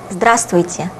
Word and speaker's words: здравствуйте: You can hear a slight difference between what you can guess from the way it is written and what I have just pronounced. This letter is not pronounced, because it would be quite difficult to pronounce all the letters in this word.